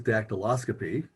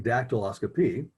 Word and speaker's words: dactyloscopy: multi-syllabic words if i ask you what is dactyloscopy most of you would struggle if you just